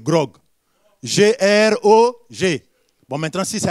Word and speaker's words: grog: Parce que ce mot-là, il paraît que je l'ai mal prononcé au premier culte, mais je sais que c'est grog.